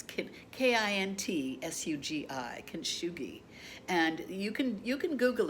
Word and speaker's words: kintsugi: It's pronounced kintsugi. I was called the shogi bowl. I knew it was something like that. Well, now since then I found it. It's Kintsugi, kintsugi, and you can Google it and you